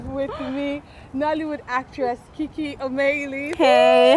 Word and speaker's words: Omeili: Okay, it's pronounced Omeili.